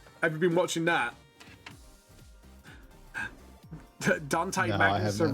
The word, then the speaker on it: Dante: Man, I listened to the audiobook for The Devastation of Baal, and the entire time they pronounced his name Dante, and it was driving me crazy.